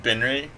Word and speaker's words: BINRE: Most people pronounce it Binry, which is fine because that's actually how I pronounced it in my head when I came up with it.